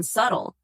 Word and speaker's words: subtle: And don't even get me started on subtle. That sneaky silent B is just sitting there, confusing everyone.